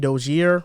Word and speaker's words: Dozier: PJ Dozier, I think that's how you say it actually. I mispronounced his name.